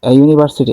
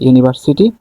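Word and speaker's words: university: vowel এজন্য এখানে কি হবে এন আওয়ার আচ্ছা ইউনিভার্সিটি এখানে কিন্তু ইউ হচ্ছে ভাল ভায়েল থাকা সত্ত্বেও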